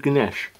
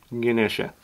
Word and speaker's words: Ganesha: Skeletal structure of Ganesh. Or Ganesha. Depending on how you want to pronounce it.